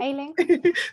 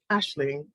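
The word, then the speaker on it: Aisling: It's pronounced Ashling.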